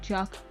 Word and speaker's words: teach: I speak Irish, and one of the words you learn really early on in Irish is chalk, which means house, but it's spelled exactly the same as the English word teach.